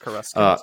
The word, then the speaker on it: Coruscant: It's Coruscant. It's pronounced Coruscant.